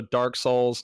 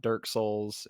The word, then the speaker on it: Dark Souls: It's also Dark Souls, not Dirk Souls, and you know, Yeah. Bloodborne, not Bloodburn, etc.